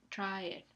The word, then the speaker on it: traer: Lo mismo pasa con traer, traer. La A y la E se pronuncian con la misma duración.